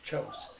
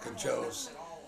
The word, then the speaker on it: Kjos: Her name was KJOS, it'd be pronounced Chos, but people would call it Kajos, She said, I wish they had a simple name like Smith.